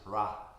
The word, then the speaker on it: Hra: And here, the mantra is Hra, H-R-A.